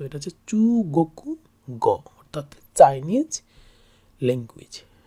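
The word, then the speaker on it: 中国語: করে, এটা হচ্ছে গোকু, কোথায় গোকু কোথায় কোকু উচ্চারণ, সেটা হচ্ছে কান্ট্রি মানে দেশের কাঞ্জি। আর গ আমরা আগেই জানি, সো এটা হচ্ছে চু গোকু গ অর্থাৎ চাইনিজ ল্যাঙ্গুয়েজ, চু গোকু গ চাইনিজ ল্যাঙ্গুয়েজ।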